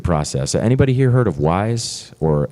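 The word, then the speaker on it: Wwise: we needed why is even though it looks like W wise they pronounce it wise it's called wave works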